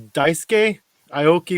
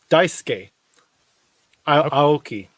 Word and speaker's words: Daisuke Aoki: because I heard his name get a bit butchered, but it was Daisuke Aoki won the event on Douglas this past weekend.